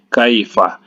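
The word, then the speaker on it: كَيْفَ: Kai ini ada huruf ya yang sukun, ya, yang sukun, maka dihukumkan ini madlin, ya. Cara membacanya dilemaskan saja. Kai, kaifa, kaifa, ya.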